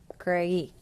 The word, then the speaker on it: creí: Creí, with an accent on the I.